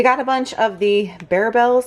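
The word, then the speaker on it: Barebells: We got a bunch of the Bear Bells. That's how you say it, right? Bear, not bar. Bear Bells.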